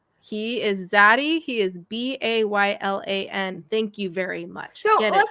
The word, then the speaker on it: Baylan: Or they'll spell it Baylon. I'm like, no, he is Zaddy. He is Baylan.